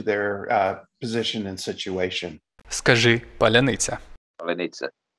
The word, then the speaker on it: паляниця: Скажи паляниця. Паляниця. Palamita. Palanitsa.